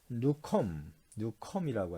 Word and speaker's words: Newcomb: 자아 개념 이론, 자아 개념이 이제 뉴컴이라고 하는데, NEWCOMB, B가 묵음이네요.